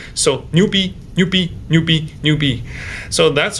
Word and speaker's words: 牛逼: So Chinese is monosyllabic language, so you want to make every syllable short, fast, and sharp. So let's just cut the new ending part and the B ending part, make it very short, 牛逼.